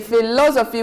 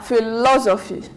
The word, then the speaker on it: philosophy: 1 2 3 philosophy we say philosophy we stress on the L philosophy then hopefully hopeful hopefully